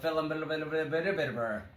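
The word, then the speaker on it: Phandelver: module this is called the lost mind of felon and that's how you pronounce it it has like 20 v's and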